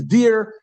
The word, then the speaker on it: dir: D-I-R is dear.